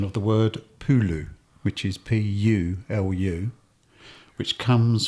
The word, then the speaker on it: pulu: it's got here it's based on the English pronunciation of the word Pulu which is p-u-l-u which comes from the balti